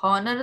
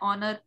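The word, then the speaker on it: honour: हॉनर तो नहीं पढ़ रहे इसको, नो। राइट? ये वर्ड होता है ऑनर। इसलिए कुछ वर्ड जिनका साउंड जिस तरह से हम प्रोनाउंस कर रहे हैं ना, उस तरह से ही वॉवल उसके आगे लगेंगे। तो ये एक तरह से इसको माना गया है कि ये ओ, क्योंकि ऑनर एच का साउंड नहीं आ रहा, तो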